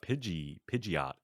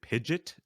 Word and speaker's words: Pidgeot: But here's the thing about Pidgeot. Is it Pidgeot or Pidgeot? Because I've heard it pronounced both ways, and I think in the anime they pronounced it both ways.